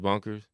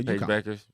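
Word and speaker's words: Bueckers: dialed in on it yeah was uh Paige Bonkers oh okay from uh Beckers Paige Beckers I keep saying that name wrong sorry AG Beckers yeah she got got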